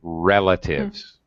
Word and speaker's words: relatives: a little pronunciation note natalie relatives first syllable stress yeah okay uh i